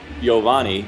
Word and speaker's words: Giovanni: First pitch to Gio Urshela, who, fun fact, when you ask him how to pronounce his name, his full name is Giovanni. It's a soft G.